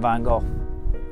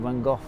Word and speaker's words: van Gogh: Vincent van Gogh. Or van Gogh (Empasis on Dutch pronunciation.)